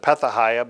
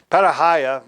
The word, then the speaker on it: Pethahiah: And then in Nehemiah chapter 11, verse 24, it says that Pethahiah, some pronounce it Pethahiah, but Pethahiah, the son of Meshezabel,